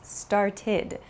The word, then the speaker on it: started: So for example, start becomes started. It has an ID sound. It's not an ED sound, but an ID sound.